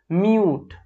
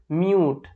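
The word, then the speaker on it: mute: তারপরে শব্দটা খুবই সহজ, মিউট, মিউট।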